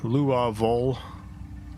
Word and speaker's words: Louisville: Louisville is Louisville. Louisville. Louisville.